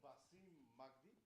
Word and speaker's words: Basim Magdy: So Basim Magdy, did I pronounce it well enough?